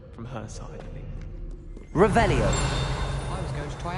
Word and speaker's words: Revelio: Revelius. Saying it wrong. Ugh, Revelia. Much better. Revelio.